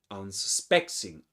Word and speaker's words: unsuspecting: So the primary accent in unsuspecting is this one, unsuspecting, unsuspecting, and the secondary accent is un.